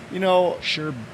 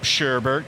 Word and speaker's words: sherbet: Sherbet, because my brother, I used to call him "Shut up, Sherbert," and he go, "It's not right.